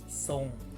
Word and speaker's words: ทรง: ไง ความ รู้ การ เช่น คำ นี้ ครับ ทรง แนะ ส่ง ไม่ ออก เสียง ร เรือ แต่